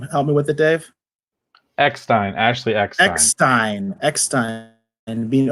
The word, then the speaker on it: Eckstein: I hope I'm pronouncing her name right. It's Eckstein.